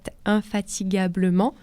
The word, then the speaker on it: infatigablement: assez difficile à prononcer, on aurait peut-être tendance à mettre un U entre le G et le A, puisqu'on écrit fatigue, G-U-E. Mais la voyelle A, comme la O et la U, font que le G se prononce immédiatement G, sans besoin de rajouter un U.